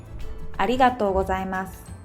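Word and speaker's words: ありがとうございます: We Japanese usually skip u sound like ありがとうございます。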